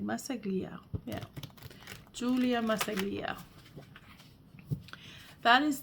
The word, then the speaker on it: Massaglia: Massaglia.